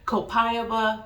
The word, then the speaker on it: copaiba: is this by Buzz wait what's it called copayaba Balsam Balsam how do you pronounce it copaiba Balsam b-a-s-a-l-m bazam whatever um so it is